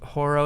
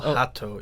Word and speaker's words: Hato: Um, I can't go with Horo. Is that how you say his name? Horo. Haro. Uh, I think it's Yural Hato. Yeah. Oh, Hato. Okay.